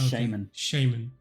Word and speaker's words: shaman: and and the nitrous we need to teach you the correct correct pronunciation of uh shaman shaman correct shaman shaman shaming shaman good yeah it's not shaman like not shaman no